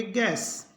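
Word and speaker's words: guess: गैस्ट गड गैस गेस्ट तो जी के बाद यदि यू हो तो यू का उच्चारण नहीं होगा यू रहेगा साइलेंट अपने पढ़ते हैं पी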